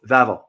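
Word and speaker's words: Wawel: vavo vavo it's a spelled w a w a l but it's pronounced V because W in Polish language is pronounced as V for example when you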